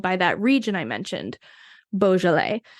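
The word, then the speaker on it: Beaujolais: that region I mentioned Bal which looks nothing like how I'm saying it right now it is b e a u j o l a i s so look for that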